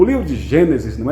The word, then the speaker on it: Gênesis: É mais bonito a pronúncia assim, é o correto, aliás. Livro do Gênesis, livro do Êxodo, é assim que você pronuncia.